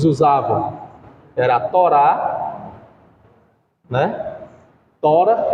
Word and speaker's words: Torá: era a Torá né tora que é o nome a pronúncia adequada tora mas alguns colocam agudo no ar aí fica Torá mas o o a forma original de se falar é tora a os escritos isso